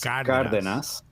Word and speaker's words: Cárdenas: There's an accent over the first A, so it's Cárdenas, right?